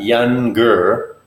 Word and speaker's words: younger: hard G younger younger it's like they were young and then you add eager young girls that's big